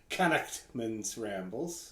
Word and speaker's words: Connachtman's Rambles: Or as my buddy Brian puts it, Connachtman's Rambles. Is apparently the way you're supposed to pronounce it.